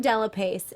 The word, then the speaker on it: Dellapace: Dellapace. Dellapace. Dellapace. Dellapace? We've been saying it wrong the whole time? No, it's in America we say Dellapace.